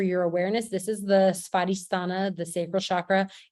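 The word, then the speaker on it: स्वाधिष्ठान: spell this right spotistana that W is is pronounced like a V sparistana is how you say that in Sanskrit SVA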